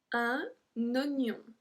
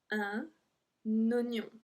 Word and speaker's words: oignon: So here, if you see, we're supposed to say oignon. Oignon. But we say un oignon. So if we look at the red one, un oignon. It's actually the exact same spelling. I gave the English one because that's the one that makes more sense. Un oignon. That's how we pronounce it.